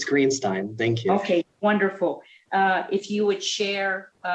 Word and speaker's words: Greenstein: And Youth Legislator Greenstein, am I pronouncing that correctly? Yes, it's Greenstein.